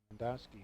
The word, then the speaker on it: Lindowski: Lindowski. He's actually cousins to the guy from Fenimore. Okay.